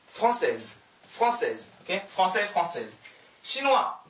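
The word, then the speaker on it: chinois: 시누아, 똑같이 하세요. 시누아즈. 시누아, 시누아즈. 중국인 남자, 시누아, 중국인 여자, 시누아즈. 발음 달라져요.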